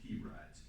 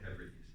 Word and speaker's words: Hebrides: he was going to a place called the Hebrides, pronounced obviously like He-Man.